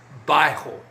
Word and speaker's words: bairro: and the word for neighborhood in Portuguese is bairro. I live in the bairro called Bahia. A double R is silent, so B-A-R-R-A.